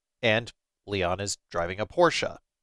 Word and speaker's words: Porsche: Atmosphere is good, exploration appears okay, combat passable, and Leon is driving a Porsche. Yes, that's actually pronounced Porsche with an E. It's German.